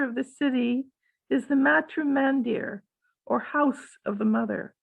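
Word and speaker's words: Matrimandir: see that bev can you read it sure the spiritual center of the city is the matrum mandir or house of the mother you pronounced it correctly oh sorry that's really cool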